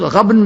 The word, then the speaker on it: غبن: تغابن غبن سے ہے، جس کا تلفظ غبن بھی ہے اور غبن بھی۔ غبن زیادہ تر خرید